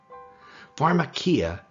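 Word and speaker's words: φαρμακεία: Pharmakia sounds like the word pharmacy, doesn't it?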